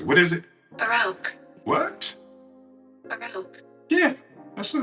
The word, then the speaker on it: Baroque: So I'm going to have just do pronounce it. What is it? Baroque.